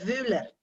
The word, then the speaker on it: Wöhler: De ahí viene el apellido, que en realidad se pronuncia Wöhler.